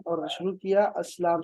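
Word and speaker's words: السلام: देखो इस्लाम शुरू में लिख दिया ना, इस्लाम नहीं होना चाहिए, क्या होना चाहिए, अस्सलाम होना चाहिए, नहीं अलिफ लाम होना चाहिए, लाम साइलेंट होगा, अस्सलाम होना चाहिए, अलैकुम व रहमतुल्लाह।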